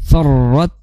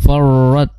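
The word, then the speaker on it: فَرَّتْ: Nah, di situ ada tasdid di huruf ro. Maka cara membacanya harus di ditahan dulu ya, ditegaskan dulu pada takrirnya ya. Jangan sampai takrirnya hilang pada huruf ro. Jangan sampai farat far. Nah, itu kurang tepat.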